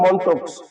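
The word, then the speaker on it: Mantoux: যেটাকে বলে মনক্স টেস্ট বানানটা হবে উচ্চারণ হবে মন্টক্স কিন্তু বানানটা হবে মেন্টক্স এর আরেকটা নাম আছে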